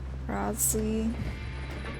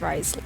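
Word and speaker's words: Wriothesley: Rosley. I never know how to pronounce his name. Risley. It's Risley, isn't it?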